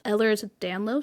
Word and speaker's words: Ehlers-Danlos: But then I found out that Rebecca Yarros herself suffers from, and forgive me if I mispronounce this, but I believe it's Ehlers-Danlos syndrome, or EDS.